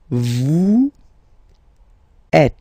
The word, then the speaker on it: vous êtes: Vous êtes. Same thing here. Notice that final S is not pronounced.